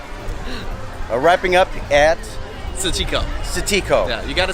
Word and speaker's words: 磁器口: Wrapping up at Ciqikou. Ciqikou. Yeah, you gotta say it. Ciqikou. Ciqikou.